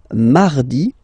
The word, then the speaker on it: mardi: Then mardi, mardi. So you can hear that you don't pronounce it that strongly, this R. Mardi, mardi, okay? You don't need to go too deep like mardi.